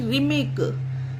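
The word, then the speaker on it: rhythmic: रखिएगा और प्रैक्टिस करिएगा आर के बाद एच हो तो वहां पर एच साइलेंट रहता है बढ़ते हैं फ्रेंड्स और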